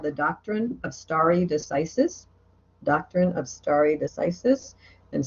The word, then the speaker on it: stare decisis: We adhere to something called the doctrine of stare decisis. Doctrine of stare decisis. And stare decisis is spelled S-T-A-R-E. And then decisis is D-E-C-I-S-I-S. Stare decisis. And it's Latin.